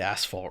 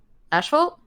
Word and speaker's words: asphalt: Why do you and British people say asphalt wrong? Asphalt? Yeah, where's the H coming from? That's fair. No, that's valid. But who says asphalt? Everyone else. That's how you spell it. I know that's how you spell it. That's not how you say it. Asphalt. It's asphalt. But it's not asphalt either.